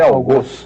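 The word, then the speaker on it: algoz: dicionários todos indicam que a pronúncia rigorosa é essa ao goso fos todo mundo fala a gos né mas é mas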